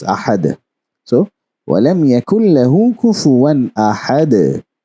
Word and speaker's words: أحد: We are going to learn that in detail in the coming lectures on waqf, but we know that it is pronounced as ahad.